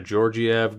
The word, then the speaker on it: Georgiev: and then chest Yorkin from there Soderstrom alexander Georgiev georg e EV I'm gonna go with georgiev